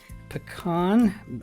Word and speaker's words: pecan: Pecan, how I pronounce them? Or a pecan. Equally okay.